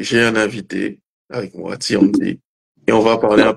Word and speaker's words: Teeyandee: Tiandi, ça s'écrit T2EYND2E.